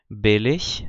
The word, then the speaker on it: billig: O grande problema acontece quando os alunos, depois de aprenderem essa pronúncia, começam a aprender a usar as terminações, as declinações, porque a pronúncia muda, ou seja, billig vira billiger, quando eu acrescento uma terminação.